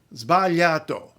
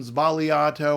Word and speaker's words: sbagliato: have any on hand sorry um and so vallato there you go quite reasonably it might take